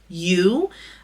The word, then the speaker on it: Ewe: know in that video that is pronounced you um it's spelled ewe but you find fibers and I think this